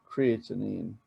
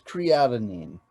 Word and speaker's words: creatinine: it down and um creatinine yeah hold on a second i'm going to check something okay yeah i was mispronouncing that it's creatinine creatinine anyway um it's what happens